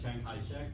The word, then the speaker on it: Chiang Kai-shek: uh also known as chiang kai-shek which i guess is a cantonese way of pronouncing his name um this which is